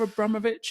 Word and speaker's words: Abramovich: a call from Abra Abramovich and his people saying um, the way to pronounce his name is actually Abramovic. You know, it's the Russian way.